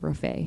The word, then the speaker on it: Raffay: And could you spell that? R-A-F-A-Y, Raffay.